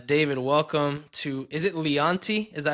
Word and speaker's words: Leonty: Um, but my friend David, uh, David, welcome to Is it Leanti? Is that how you pronounce it? Yes. Leonte.